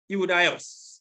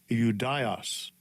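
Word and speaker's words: Ἰουδαῖος: It is Iudaios. This is the pronunciation. Strong's G 2453, Iudaios.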